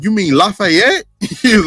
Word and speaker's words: Lafayette: We call it Lafayette, but I know some people from New Orleans. They say Lafitte because I guess like it's like a French name.